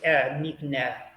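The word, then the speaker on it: נקנה: Without the N at the end, just nikne. Nikne. Nickname. There you go. The hay That is means silent. the hay is silent. The last letter is silent, so it's nikne.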